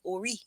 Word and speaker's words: ori: is spelled ori, but it's pronunciated ori, ori, O-R-E-E, but it's spelled O-R-I.